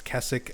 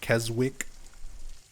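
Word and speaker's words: Keswick: I've had a lot of people who are from there or nearby there correct me a million times that it's Kessik and not Kzwick which is why I'm pronouncing it that way in case you're wondering.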